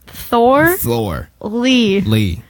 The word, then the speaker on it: Thorley: Wow, we got Caitlin Thorley. Did I get that right? Yeah, it's not that hard to pronounce. Thor. Lee. Like a thorn?